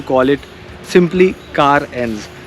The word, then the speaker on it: Carens: तो आप देख सकते हो मेरे सामने खड़ी है केयरेंस, अरे क्या नाम है, लोग कंफ्यूज हैं, सो you pronounce it एज कार plus एंस, कार एंस।